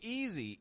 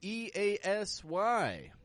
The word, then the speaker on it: easy: If you listen very closely, you'll notice I'm not pronouncing the S like a S. I'm not saying easy, but I'm stretching it out. I'm giving the S a little bit more voice. Z, easy, easy.